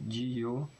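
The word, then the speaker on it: Jihyo: Non, Jio ça peut porter à la confiance, parce que pareil, il y a un Y après le H, sauf qu'on le prononce quasiment pas, parce qu'on fait Jio, il est à peine prononcé, Osana.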